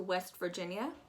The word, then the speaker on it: West Virginia: to do here is you're going to pronounce that i a as just a y a west virginia um you really don't want to waste a lot of time on that eye because it's just non-existent west virginia i'm gonna go